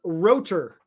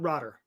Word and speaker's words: Rotor: so what happened here it's pronounced rotor not rotter rotor rotor like Roto-Rooter no no Rooter rotor rotor